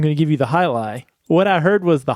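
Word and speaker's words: Jai Alai: Spell it for everybody because it does not look like it's spelled Highlight. Yeah, it's not, unless you're from Florida and know this beer already, it's not spelled at all like you think. This is J-A-I, second word A-L-A-I.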